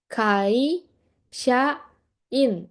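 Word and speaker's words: 会社員: Nah, terus ada juga ini kai, sha, in. Ini kanjinya dibacanya gitu. Ini yang depan kai, yang tengah sha, yang belakang in. Kai shain.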